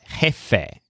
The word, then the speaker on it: jefe: chief head feathers or jefe for short so it sounds kind of like the beginnings of the words head feathers the word jefe means